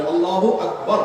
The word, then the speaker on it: আল্লাহু আকবার: আল্লাহু আকবার উচ্চারণ করার সময় আকবারের রাকে টেনে পড়া ঠিক হবে কিনা? না, ঠিক হবে কেন? তাকবীরের সাথে বলতে হবে আল্লাহু আকবার, আল্লাহু আকবার, এরকম বলা যাবে না।